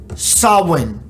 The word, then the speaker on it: Samhain: layer film so where did halloween start it's pronounced sawin sawin it's spelled phonetically samhain but it's pronounced